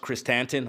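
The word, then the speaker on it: Krrsantan: K or black Christ tanton that's how it's pronounced Christ tanton I actually looked it up and that fight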